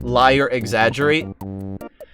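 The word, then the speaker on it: Liar X. Agerate: It's supposed to be pronounced like liar exaggerate.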